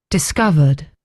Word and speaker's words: discovered: Discovered. Discovered. So they have emphasis on the O I would say there the O there is where they give the emphasis isn't I think so discovered discovered discovered discovered discovered.